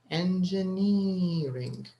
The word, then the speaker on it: engineering: right engineer in engineering so there's stress on the is it the third syllable n ring we have four syllables actually in this word so the stress is on the third syllable engineering right so let's remove this